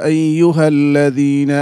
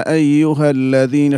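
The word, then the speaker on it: أيها الذين: যেমন ইয়া আইয়ুহাল্লাজিনা আমানু তুমি এখানে অনেক শক্ত করেছো স্বাভাবিক করে বলতে হবে বলতে হবে আইয়ুহাল্লাজিনা আইয়ুহাল্লাজিনা শক্ত হবে না আবার ছেড়ে দেওয়া যাবে না অমনিভাবে তুমি যদি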